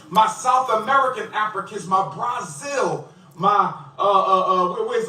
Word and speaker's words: Brazil: Why is he saying Brazil? He says he got six degrees, but I don't understand why he misbe him be mispronouncing his words. Brazil. No, it's Brazil. You're not from there. It's called Brazil.